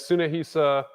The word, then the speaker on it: Tsunahisa: it's listed as Tsunahisa, which is spelled with a TSU at the beginning.